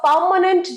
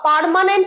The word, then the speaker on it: permanent: Do you have a permanent job? Permanent আমরা বলি না, permanent. Permanent এই আরটা সাইলেন্ট থাকে।